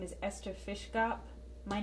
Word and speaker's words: Fiszgop: My name is Ester Fiszgop, pronounced in Polish Fiszgop, and I was born